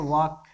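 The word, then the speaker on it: walk: सब जानते भी होंगे लिखते हैं वाल्क लेकिन पड़ते हैं वह एंड साइलेंट हो जाता है उच्चारण करते समय एंड साइलेंट वर्ड है यह बहाना कौन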